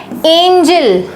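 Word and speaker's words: angel: का इधर-उधर हेरफेर है बट दोनों के प्रोनंसिएशन में जमीन आसमान का फर्क है इसको हम पढ़ते हैं एंजल एंजल एंजल मतलब परी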